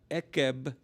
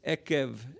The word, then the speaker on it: עֵקֶב: but it's a v so it's not ekkeb it's eckev and that's a v sound and ekev or i